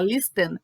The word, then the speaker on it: listen: ouvir vocês vêm aqui ele é escrito com a letra T mas a pronúncia não tem o te tá Então veja fala lista é lista Ok I never lies